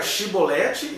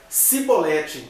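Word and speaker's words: Shibboleth: Aí tinha duas pronúncias. Ou era Shibolete, e aí seria um gileadita, ou era Sibolete. Então, era alguém se fazendo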